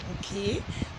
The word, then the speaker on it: bouquet: Nigerians to pronounce it bouquet, but it's actually bouquet.